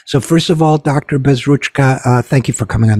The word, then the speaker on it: Bezruchka: pronouncing my name correctly it's uh Ukrainian as well rch is is a big is an important part of it yes absolutely well ask